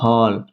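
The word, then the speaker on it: hall: देखिए कैसे, क्या कह रहा है, जब किसी वर्ड में ए के बाद डबल एल आए तो ए को ओ पढ़ते हैं। जैसे कि एच ए डबल एल, क्या हो गया हमारा हॉल।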